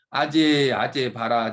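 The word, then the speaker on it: 揭諦: 일단 이것은 발음이 아제, 바라제, 바라승아제, 모지사바 이렇게 발음하죠. 모지사바하. 근데 이것은 높이 들 개자를 아자로 좀 발음하고 있어요.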